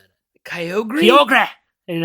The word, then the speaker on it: Kyogre: How would you pronounce Kyogre. It? Is that how I pronounce Yep, it? see, because the anime says that. People say Kyogre. Yeah, Kyogre.